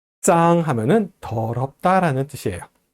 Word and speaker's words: 脏: 짱 하면은 더럽다라는 뜻이에요. 발음은 짱 이렇게 발음합니다.